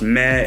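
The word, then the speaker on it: 咩: For example, this character, pronounced meh in Cantonese, is a particle word used at the end of sentences to convey doubt or surprise.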